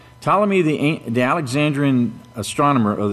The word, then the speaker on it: Ptolemy: You don't pronounce the P, okay? It's Ptolemy. Ptolemy the the Alexandrian astronomer